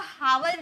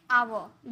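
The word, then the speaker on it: hour: अगर एच के साथ आप इसे पढ़ोगे तो हावर निकलेगी गा लेकिन हावर नहीं एच हमारा साइलेंट होता है। इसे हम पढ़ेंगे आवर यानी कि आ का साउंड आ रहा और हमारा आ वोवेल होता है।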